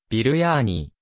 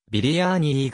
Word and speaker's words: ビリヤニ: 炊き込む点にあるヒンディー語の発音お金にするとビルやーにーまたはビリアーニーが近い欧米圏では